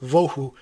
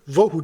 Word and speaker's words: vohu: But the word Vohu doesn't look like it's really a real word at all. It was just simply made up to rhyme with Tohu to emphasize the situation.